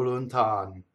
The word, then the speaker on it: lontano: The first N touches the T. So that N doubles.